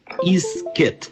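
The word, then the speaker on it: Isket: Numéro 16, Périclès Isquette. Isquette s'écrit I-S-K-E-T.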